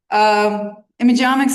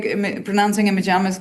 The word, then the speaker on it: Imageomics: Imagomics Institute. So thank you, Anand, for pronouncing imagomics correctly. So omics, all of biology from images.